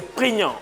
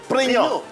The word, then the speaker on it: prégnant: C'est moi, le mot qu'on va apprendre aujourd'hui c'est prégnant. Prégnant.